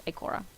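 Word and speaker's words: Ikora: regrets i k o zero zero six that's icora it rhymes it's like poetry exactly absolutely as said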